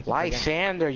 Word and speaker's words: Lysandre: a little bit of problem with was was Lysandre, or however you pronounce his fucking name. I Lysandre, you said it right. Lysandre, because the freaking Geomancy, bro.